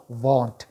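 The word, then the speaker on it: won't: लगा के बोलते हैं, और इसका प्रोनाउंसिएशन होता है आपका वॉन्ट।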